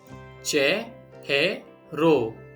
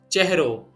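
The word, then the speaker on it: ચહેરો: For face, che he ro.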